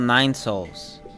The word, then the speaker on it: Nine Sols: controller this is a it's called Nine Souls but the souls is spelled s o LS I am quite honestly